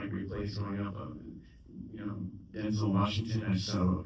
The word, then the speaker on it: Denzel: Denzel Washington. I just saw a video where he's pronouncing his name correctly. It's Denzel, it's not Denzel. It's like Denzel.